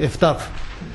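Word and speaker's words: FTAAP: 思って要するに FTA AP F タプと発音されてるあの FTA AP アジア大平における FTA FTA ですね F タープでここにたどり着こう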